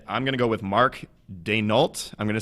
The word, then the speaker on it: Daigneault: And I'm going to go with Mark Daigneault. I'm going to say the G is silent. And that's the best I got. So, yeah, it's Daigneault.